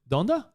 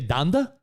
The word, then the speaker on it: Donda: a little thrown off on how he pronounces donda isn't it donda you say danda isn't it donda like like dondo esta donde esta it's the same it's